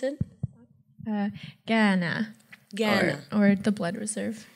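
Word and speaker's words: Kainai: actor and writer she is Blackfoot from the kai First Nation did I pronounce that correctly not even remotely I should have asked before I apologize how should I pronounce it uh Ghana Ghana or the blood Reserve in English yeah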